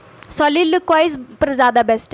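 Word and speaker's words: soliloquize: ये मैंने यूके वाला लिख रखा है, सोलिलोक्वाइज, ठीक है।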